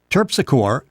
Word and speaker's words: Terpsichore: The World War I trilogy we're talking about, Matthew Dobbs Esquire, Terpsichore, that's the way I'll pronounce it, and Goodman's Croft.